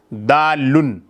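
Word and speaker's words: دالّ: کا اسم فاعل ہے، اسے لوگ سمپل طور پر دال بھی کہہ دیتے ہیں، دال چاول میں جو دال استعمال ہوتا ہے اس طرح سے تلفظ کر دیتے ہیں، حالانکہ یہ جو ہے اصل میں ہے دالن، یعنی کہ دال۔ تو جو لفظ ہوتا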